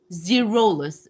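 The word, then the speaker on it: Xerolus: uh, Here, uh, the X is pronounced as a Z. So it's Socrates Zerolus.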